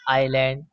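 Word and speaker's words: island: Silent कब होता है यदि आई के बाद एस हो तो एस साइलेंट होता है जैसे आइलैंड डेरीज आईल दोस्तों यहां पर आई के बाद एस आया इसलिए एस साइलेंट होगा।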